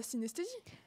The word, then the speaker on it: synesthésie: va nous parler de la synesthésie. Exactement. Ça se prononce comme ça?